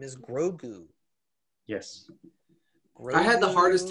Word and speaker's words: Grogu: like you want to say groco and heather kept saying she was like she's like no it's grogu and i was like did he say like grogo because that i felt like they were pronouncing it slightly differently and i was like